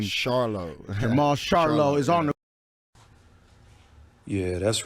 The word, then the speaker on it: Charlo: me your last name charlo Marlowe is honorable yeah that's right it's charlo not Charlo but I guess Jamal Jamil and me are the only ones in the world who pronounce it that way or maybe my boy